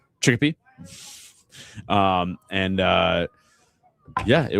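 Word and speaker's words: Chicopee: Mispronounced it. It's Chickpe. Chickpea.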